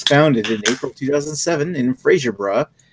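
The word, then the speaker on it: Fraserburgh: BrewDog was founded in April 2007 in Fraserburg. How do you pronounce that? Is it Bra or Berg? Bra.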